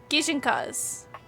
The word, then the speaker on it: gijinka: I loved drawing ginkas like a Pokemon. I'm also saying it wrong. Gijinkenas. Gijinkas.